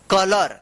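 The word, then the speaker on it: color: सी ओ एल ओ यू आर कलर देखिए यहां पे ओ यू एक साथ है। तो यहां पे भी अ उच्चारण हो रहा है।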